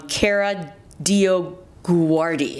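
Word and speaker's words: Kara DioGuardi: her name because i don't know how to pronounce it um cara dio guardi yes you gotta care do you guardian she's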